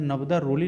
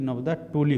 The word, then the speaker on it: नबदा टोली: प्रश्न संख्या 79 में कह रहा है कि पुरातात्विक कालीन नबदा रोली, देखिए यहाँ नबदा रोली नहीं होता है जबकि नबदा टोली होता है।